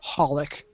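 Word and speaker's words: xxxHOLiC: because I know what I know what to do with the X you just don't pronounce it yeah like servant service Hunter Hunter H holic which Hol XXX holic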